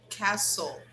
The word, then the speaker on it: castle: say this word remember we don't pronounce the t the t is silent castle castle okay so when